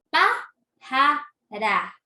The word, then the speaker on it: pájara: Pájara. Tenemos, la última sílaba es ra. La penúltima es ja. Y la siguiente sílaba es pa, que nosotros decimos que es la palabra esdrújula, es la sílaba esdrújula.